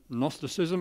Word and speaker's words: gnosticism: and gnosticism what's that it's got a silent g in front of it gnosticism it's a sort of